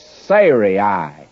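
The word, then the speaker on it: Sarai: her name sah and I have actually been pronouncing it incorrectly all through here and I'm not about to change it it's Siri would be the correct pronunciation before Siri well if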